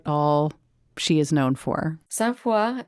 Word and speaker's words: Sainte-Foy: Sainte Foy is the French pronunciation of the Latin words Sancta Fides, Holy Faith.